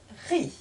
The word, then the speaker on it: riz: est muet et enfin dans le mot riz aussi le Z ému donc je reprends la lecture de cette phrase sarah a mis de la farine dans le riz à vous de lire